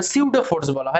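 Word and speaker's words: pseudo: হয় ফিকটিসিয়াস ফোর্স বা পেসিউডো ফোর্স বলা হয়, বা সিউডো ফোর্স বলা হয়। অ্যাকচুয়ালি উচ্চারণটা স্পেলিং লেখা হয় পেসিউডোর মতো, কিন্তু বলা হয় সিউডো ফোর্স।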